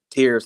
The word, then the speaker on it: Tears: uh coveris tears it's his last name is pronounced tears but it's spelled tears t-e-a-r-s in from what